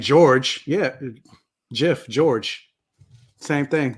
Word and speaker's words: George: But y'all don't have any problem saying George. Yeah. GIF, George. Same thing. You don't say Gorge. Thank you, Aaron. Do you pronounce the E in George? Like, you don't pronounce none of that.